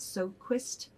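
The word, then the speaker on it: Sjoquist: her last name is how do you think you say it so quist so i bet that jay is silent so it's s-j-o-q-u-i-s-t and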